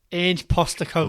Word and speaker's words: Ange Postecoglou: Ange Postecoglou.